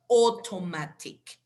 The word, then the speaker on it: automatic: We have the combination of A and U, so you pronounce it as an O. Automatic.